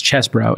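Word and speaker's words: Chesebro: uh Kenneth Che chesbro it's spelled cheesebro but as chesbro and Sydney pal have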